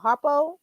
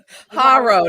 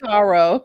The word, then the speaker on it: HARO: Is it called Harpo? Girl, no. Haro. There's no P. The P is silent. It's Haro.